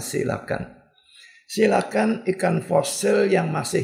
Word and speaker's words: coelacanth: sebuah artikel yang berjudul silakan nulisnya coelacanth Tapi bacanya silakan silakan ikan fosil yang